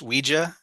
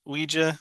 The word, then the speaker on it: Ouija: All right, I'm gonna do a quick little double feature here because I watched Ouija and Ouija: Origin of Evil from 2014 and 2016.